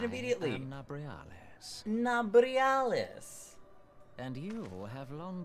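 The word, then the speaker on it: Nabriales: Give me the pronunciation immediately. I am Nabrialis.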